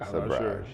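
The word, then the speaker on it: sabrage: of the day is saage saage is that how you say it saage yes so saage is the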